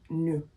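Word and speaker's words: nous: please is not pronounced news the S is silent it's only pronounced if it's in front of a vowel but you assigns that it's pronounced new and new means we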